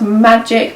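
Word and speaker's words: MGC Derma: bits from MGC duremar it's pronounced magic maybe it's magic derma so yeah this is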